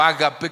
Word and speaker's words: ágape: Cierra el apóstol Pablo hablando de agape o ágape, como alguno lo pronuncia, porque es el amor